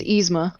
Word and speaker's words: Yzma: It's Yzma. Yzma. Yzma versus Yeah, like it's easy.